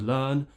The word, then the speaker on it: learn: so they do this forget about the r the r is non-existent here it's just for example in the word learn L learn remove the r forget about it when you finish the sound you move immediately onto the next sound and skip the r some other common mistakes